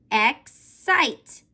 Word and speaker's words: excite: or Y, it can make that C sound change from its hard sound that says k, k, k, to its soft sound that says s. Did you remember to make the C in this syllable make the s sound?